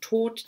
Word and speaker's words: Thoth: Das zweite am meisten verkaufte Deck der Tarotgeschichte ist das Deck von Aleister Crowley und Frieda Harris, das Thoth Tarot, auf Englisch ausgesprochen Tod, T-H-O-T-H.